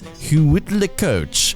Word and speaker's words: huitlacoche: expand and become the delicious delicacy known as huitlacoche.